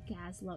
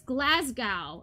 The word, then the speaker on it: Glasgow: south side of gaza glass not gazlowe it's glasgow i'm from oh my god it's glasgow i've been pronouncing it wrong wow i'm so sorry